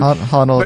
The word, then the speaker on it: Honnold: I don't know how you pronounce the last name. Honnold, yeah.